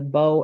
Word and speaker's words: Bow: We Bow, New pronounce it Hampshire.